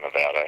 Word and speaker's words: Nevada: longest serving Governor Nevada history or as some pronounce it the longest serving Governor Nevada history I kind of prefer the former pronunciation